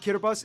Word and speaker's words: Kiribati: way quick side note the word kiribus is just the pronunciation of Gilbert in the native language most of the inhabited